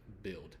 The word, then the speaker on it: build: and I are together so when you and I are together it sounds like build ill I the you can almost not pronounce the U and just focus on the I so UI close together